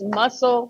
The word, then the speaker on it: Muscle: are such music lovers it's muscle spelled like muscle sh s h o a LS and they have quite